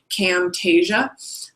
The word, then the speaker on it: Camtasia: like to use myself is Camtasia kind of spelled like it SS sounds Camtasia um and a lot of people also like